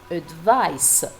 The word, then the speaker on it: advice: Even uh the pronunciation is different. The noun advice with the s sound. The verb however is advis with the Z sound.